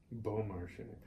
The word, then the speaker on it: Beaumarchais: Beaumarchais.